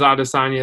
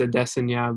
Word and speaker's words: Adesanya: I'm like, I thought it was Adesanya at the time. Obviously, it's Adesanya, but.